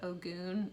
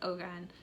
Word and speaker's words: Ogun: um i looked at i tried to look it up and somebody said it was oh goon and i don't believe that that's the correct correct pronunciation so i believe it's ogun if it's wrong correct